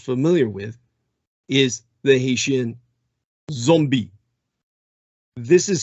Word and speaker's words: zombi: with is the Haitian Zombie. This is spelled in the Haitian Creole. Their language is what's called a Creole. It's spelled Z-O-M-B-I. And that's very important. It's an important distinction. And the pronunciation, zombie.